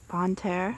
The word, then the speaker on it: Bonne Terre: This is near the town of, pronounce it for me, Melody? Bonne Terre.